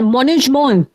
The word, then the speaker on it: Management: Diese Wörter kommen aus dem Französischen. Okay, sir. So you have to pronounce it the French way.